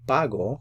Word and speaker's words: pago: If it didn't have the accent mark, then it would be pago. You put the stress over here, and that's a different subject, and that's a different verb tense.